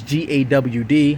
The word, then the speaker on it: Gad: So we're the tribe of Yehuda, which is the royalty, and the tribe of Gad, which is Gawd, how you pronounce that.